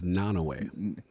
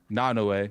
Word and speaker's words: Naoe: Do you know how to pronounce her name? I believe it's Naoe. Naoe.